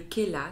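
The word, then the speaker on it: Khella: y a une huile essentielle qui s'appelle le Khela, ça s'écrit K-H-E-2-L-A.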